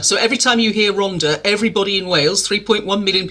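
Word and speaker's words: Rhondda: pronounced that way before double D is a different consonant in Welsh and it it's pronounced the it's R so every time you hear Ronda everybody in Wales 3.1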